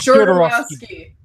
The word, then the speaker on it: Jodorowsky: Jodorowsky.